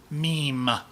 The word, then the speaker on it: meme: people would be wrong there's an e after the m so it's an e it's an e yeah I guess makes it a long e sound meme argument over it isn't